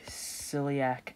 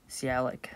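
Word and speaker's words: sialic: for attachment to the Celiac acid receptor calic I should say I said Celiac that's the wrong pronunciation sorry about that that's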